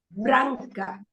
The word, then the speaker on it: branca: A camisa é branca. Branca Ah, has 2 syllables.